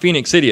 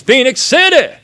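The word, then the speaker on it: Phenix City: live in phoenix city you have to say it this way it's not phoenix city it's phoenix city alabama uh you gotta say it like that right you gotta be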